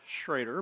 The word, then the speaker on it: Schrader: And I always like to say it's pronounced Schrader because we get Schroeder a lot.